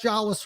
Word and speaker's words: Jolles: them uh but you did it you got jwas right that's how you say it so it's